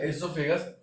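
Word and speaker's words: oesophagus: फिर आप देख रहे हो ये ग्रास नली, ओएसोफेगस या एसोफेगस, इससे कहा जाता है ओ साइलेंट रहता है।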